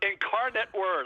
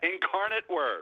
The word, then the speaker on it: Incarnate Word: Andy, I used to put inc word like ink word. I didn't know how to pronounce it. So, it's Incarnate Word. I'll remember that, Annie, for draft. I won't get it wrong on draft day now. Incarnate Word.